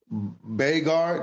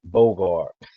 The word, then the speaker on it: Bogard: know you as Bard did I say it right my last name Bogard Bard Lord is French French Bogard that's it that's it